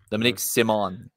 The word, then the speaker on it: Dominique Simon: Dominique Simon, la vraie prononciation.